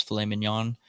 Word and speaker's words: filet mignon: and cheese, ribs, a filet mignon. The G is silent, but it's filet mignon.